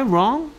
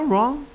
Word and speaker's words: wrong: Am I wrong? No, you're right. 내가 틀렸니? Am I wrong? No, you're right. 네가 옳아. 됐습니까? W-R-O-N-G wrong 이라고 발음합니다. Long이 아니고요.